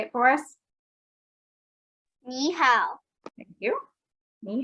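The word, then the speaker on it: 你好: as her smile and she says me how which of course is not correct that's not how we say hello would you like to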